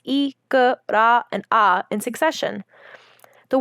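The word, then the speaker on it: икра: Let's look at this word, pronounced ikra.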